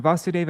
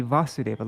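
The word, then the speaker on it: Vāsudeva: automatically disappears similarly when vasudeva appeared this should be vasudeva long a anyways similarly right when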